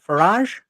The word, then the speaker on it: Farage: by Nigel Farage and Farage Farage Farage. Rhymes of garage.